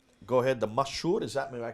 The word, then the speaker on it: مشهور: Go ahead, the mashhur, is that, am I correct how you say it? مشهور.